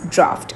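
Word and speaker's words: draught: is this all means draft. Okay. Whether it's a whether it's this spelling you will pronounce it as draft only.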